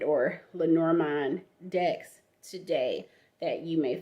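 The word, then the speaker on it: Lenormand: upper class Society was a Mademoiselle Marie and lenorman now there are plenty linar manned or lenormine decks today that you may find and that's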